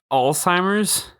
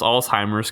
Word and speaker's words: Alzheimer's: started to look up how to pronounce Alzheimer's correctly yeah I didn't know if it was timers or hi MERS yeah well Eric's wawel